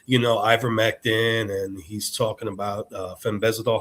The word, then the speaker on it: fenbendazole: And he's talking about, ivermectin, and he's talking about fenbendazole.